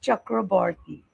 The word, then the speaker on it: Chakraborty: Yeah, pronunciation was absolutely correct, but we do it as Chakraborty. We pronounce it as Chakraborty.